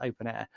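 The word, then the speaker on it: openEHR: open air i say open air it's it's written open ehr but it's it's pronounced open air now that is a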